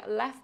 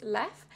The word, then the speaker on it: Leffe: So we were going to the Leffe Museum, also known as Leffe, I guess. I think in French is Leffe, and in Flemish, which is Dutch, it is Leffe.